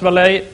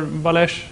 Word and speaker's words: Walleij: So I'm Walleij, or Walleij, or however you prefer to pronounce it. It's actually French.